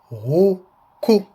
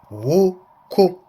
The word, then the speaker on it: huku: The word for chicken is huku, huku, which is spelled H-U-K-U, huku, and here it is, huku, huku, huku.